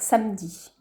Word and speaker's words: samedi: Pour écrire samedi, souvent, comme on prononce à l'oral, on va dire samedi. Mais il faudra lui rappeler qu'il faut en fait utiliser toutes les syllabes écrites.